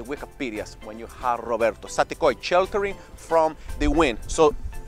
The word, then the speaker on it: Saticoy: do that right now sati koi everybody syllables three syllables you wanna know what